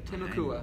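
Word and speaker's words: Timucua: So is that, so can somebody, once they've heard it, they don't probably don't know how to spell it. T-I-M-U-C-U-A, Temecula.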